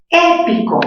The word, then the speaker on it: épico: Épico, mayor fuerza, ¿dónde tiene épico? Épico, mayor fuerza en la sílaba épico, ¿sí? ¿Qué tipo de palabra sería? Épico. A ver, última sílaba co, penúltima pi, antepenúltima e.